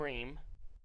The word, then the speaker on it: Ream: Tim Ream. They're not going to rest him in an Tim elimination Wees? game. Tim Ream. Tim Wees is a dog. Tim Ream.